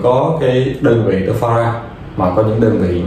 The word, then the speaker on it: farad: Chú ý, V chữ F thì chúng ta đọc là farad à.